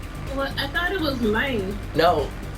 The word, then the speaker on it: Lang: Also, you did spell Lane's name wrong, but however you pronounce his name is whatever. Well, I thought it was Lane. No, L-A-N-G.